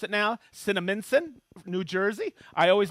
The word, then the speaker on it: Cinnaminson: And yes, I know how to pronounce it now. Cinnaminson, New Jersey.